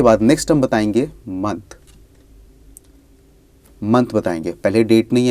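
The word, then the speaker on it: mai: हम लगाएंगे ल देन मे को हम फ्रेंच में मे ही बोलते हैं स्पेलिंग में थोड़ा सा डिफरेंस है एम ए आई तो ल मे उसके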